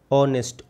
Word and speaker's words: honest: तो हमको लगाना है यहाँ पे ए या एन, तो ऑनेस्ट एच साइलेंट होता है, ऑनेस्ट ओ।